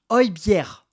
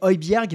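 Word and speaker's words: Højbjerg: des commentaires hier sur la vidéo déjà on prononce o bière o bière voilà c'est comme ça que l'annonce la Provence o bière voilà moi je vais je dis obierg mais je vais essayer de de bien le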